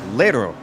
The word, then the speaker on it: Lero: I want to correct myself. Lero. We've been saying it wrong all this time.